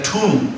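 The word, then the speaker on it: tun: And 18 of these Wainals made a Tum, T-U-N, or 360 days, which was the Mayan year.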